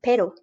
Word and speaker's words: pero: distinguishable by one letter if you have one r you're saying pero but if you've got two you are saying a different word perro because those two letters